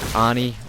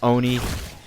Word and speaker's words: Oni: look at the epic Ani or Oni, however you pronounce that. I mean, I hear some people say Ani, other people say Oni, but it really doesn't